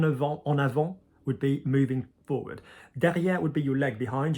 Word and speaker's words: derrière: Because there's no, it's because the ER, like I said, ER, ES, ET, EZ often go higher, so it's derrière, all right? And you're pronouncing the R there, derrière, because it's not